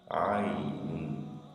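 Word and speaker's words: ع: J'utilise ma gorge et je la ferme pour faire sortir ce son. Ainun. Ainun. Aïn.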